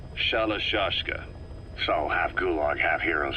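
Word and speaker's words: Shalashaska: Someone must have known about that because somewhere along the line, Shashka got stuck on the end of Sharashka. The gorillas were using the name amongst themselves. By the time I got to hearing about it, pronunciation had wound up as Shalashka.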